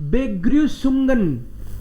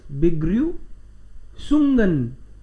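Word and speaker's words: Begrüßungen: बेग्र्यूसुंगन, बेग्र्यू, बेग्र्यू, बेग्र्यू, I should write like this, बेग्र्यूसुंगन, बेग्र्यूसुंगन.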